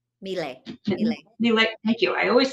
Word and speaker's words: Miele: always say it wrong, is it Miele or Mila? Miele.